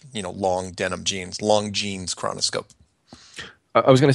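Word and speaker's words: Longines: emails it is not long jines chronoscope it is pronounced long jeans like like like you know long denim genes long jees chronoscope I was going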